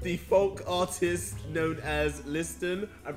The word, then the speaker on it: Liston: With the folk artist known as Liston. I'm pronouncing that correctly?